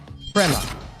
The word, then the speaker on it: Prema: Prema, and it is pronounced Prema.